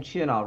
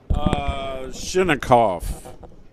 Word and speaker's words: Chinakhov: Last name Chinov, right? Is, is that how he pronounces it? Chinov, Ruslan Chinov? Chinakhov.